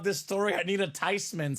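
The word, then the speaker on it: Theismann: nah not really it's actually supposed to be pronounced tyman so it's not theeman it's not Theisman it's Joe tyman tyman tysman the house I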